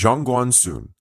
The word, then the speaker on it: Zhongguancun: Chapter 3: China’s Silicon Valley China’s answer to Silicon Valley became Zhongguancun (pronounced “jong-gwan-soon”) and while they are similar in theory, their practices are vastly different.